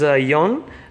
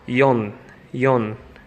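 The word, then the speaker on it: よん: it's called Sun Sun 4 can be read in two ways but this is the way they read it when they do counters for periods so like first periods that compared their paid forth paid this is young and they just said screw the pattern we'll do a box with stuff inside anyway so this is called Yong Yong this is five like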